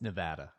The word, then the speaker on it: Nevada: want to say about those items scott it's nevada is how you pronounce it i was just in case other